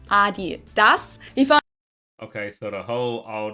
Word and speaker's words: Adidas: Because they usually pronounce it Adidas, and in Germany we say Adidas. Adidas, Adidas. Super different.